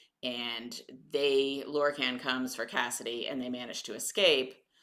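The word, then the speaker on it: Caisid: I actually had to ask Ekko how you pronounce that because uh it is um gelic I believe uh so anyway her name's Cassidy and she is the L's sister and he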